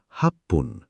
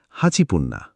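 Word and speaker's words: はっぷん: আর সারে মানে হান এখানে তিনটে উচ্চারণ একটু কঠিন এক মিনিট মানে ইপ্পুন ইচিপুন ছয় মিনিট মানে রোপপুন রকুপুন্না আট মিনিট মানে হাপপুন হাচিপুন্না এগুলো জাপানি উচ্চারণের স্বাভাবিক পরিবর্তন একটু প্র্যাকটিস করলেই ঠিক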